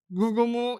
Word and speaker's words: Rurumu: scale Lulumu and Kuromu, or the actual name is Rurumu and Kuromu. You know, just like me, some Japanese people, they can't pronounce the alphabet R very well, so R will sound like L depending on who you're speaking to.